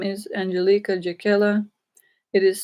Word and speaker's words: Angelika Jakiela: Earth as they rightly deserve my name is Angelica jaquela it is spelled a-n-g-e-l-i-k-e my last name is spelled j-e-k-i-e-l-a